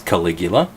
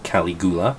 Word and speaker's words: Caligula: It's Caligula, or Caligula, if you haven't ever heard it pronounced before.